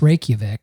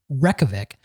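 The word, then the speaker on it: Reykjavík: there you go the guide to All Things Reykjavik excuse me I'm being told it's pronounced Reykjavik um I think we should look that up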